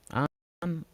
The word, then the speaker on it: Aang: Aang.